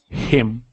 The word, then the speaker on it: him: Him. Him. Good. Sometimes you say it like him. Him. Okay. So not him, but him. Him.